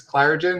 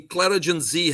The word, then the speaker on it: ClarigenZ: Is this Clarigen? Well, no, actually, ClarigenZ Health is the company, and the product is called Focus Plus.